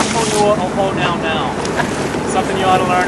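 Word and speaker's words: Puʻuhonua o Hōnaunau: So because it lives here in Honau Nau Bay, the full pronunciation of this particular Pu'uhonua is Honua o Honau Nau.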